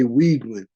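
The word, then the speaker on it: Weigman: But I'm going to say Wigman, E-I-G, Weeg.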